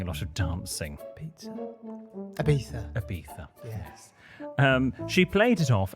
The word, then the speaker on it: Ibiza: I don't want to give it away all over again, but the name place rhymes with pizza, and we plan on doing a lot of dancing. Pizza? Ibiza.